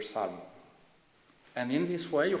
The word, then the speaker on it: Salmon: The only ambiguity is at the end with this silent L here, Salmon.